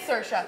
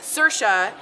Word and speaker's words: Saoirse: It is Saoirse. Thank you. See, it's something very strange. It's spelled like S-A-O-R-I-S, click, click, E. But it's Saoirse, and she's phenomenal.